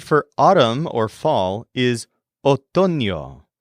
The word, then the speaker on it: otoño: The word for autumn or fall is otoño, spelled O-T-O-N-O, otoño.